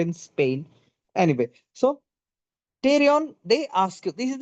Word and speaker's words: pterion: P T E R I O N. Now T is silent. T is silent. Just like I am in Spain, I am in Spain, but the S is silent. So I'm just in pain.